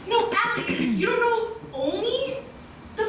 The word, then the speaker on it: Olney: And he said he was from Blaney, Maryland. That's adorable. That's not right. Oh, what is it? Did they tell you pronunciation? No, Allie, you don't know Olney?